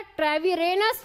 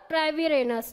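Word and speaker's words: Treviranus: किन्होंने नामकरण किया था, लैमार्क और ट्रेविरेनस ने। ट्रीविरेनस भी इसको कहते हैं कई बार, तो कंफ्यूज मत होइएगा, ट्रेविरेनस बोल लीजिए या ट्रीविरेनस बोल लीजिए।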